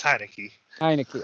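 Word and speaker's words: Heinicke: thing because i i actually had the right pronunciation for once you know how terrible i am that's the astonishment it's it's heineken okay but somebody brought this up i think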